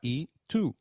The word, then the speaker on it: y: Luis it means and it is pronounced same as the sound of the letter e in English so can you try saying e it is e alright